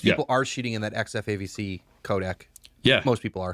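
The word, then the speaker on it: XF-AVC: One, you can only shoot in like the 10-bit XF AVC. Is that how you say it, Josh? Yeah, XF AVC.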